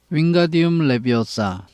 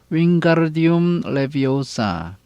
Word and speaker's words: Wingardium Leviosa: You are saying it wrong. 너가 주문을 잘못 말하고 있어. Harry heard Hermione snap. 해리는 허마이니가 딱딱거리는 소리를 들었습니다. It's Wingardium Leviosa, making the garden nice and long.